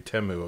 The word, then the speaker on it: Temu: be like hey does Teemu have this and she'll be like yeah dude although at the Super Bowl we learned it's supposed to be temu apparently oh been saying it wrong our whole life and by our